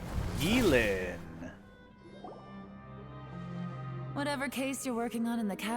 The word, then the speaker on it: Yelan: I thought we'd established that my legal opinion doesn't count for anything when Yelan's around. Yelan. Okay, Yelan. It's Yelan. Even though it's spelled Yelan, it's Yelan. Okay?